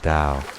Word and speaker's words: Tao: It's about flow, about aligning with the natural rhythm of life, which Lao Tzu calls the Tao, pronounced dow.